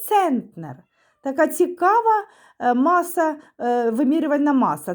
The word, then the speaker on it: центнер: Центнер наголос на е перший склад центнер і 100 кг - це 1 цент центнер.